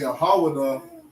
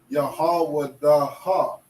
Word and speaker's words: Yahawada: For example, if the da and the ha didn't connect, then this wouldn't be Yahawada, it would be Yahawadaha, okay?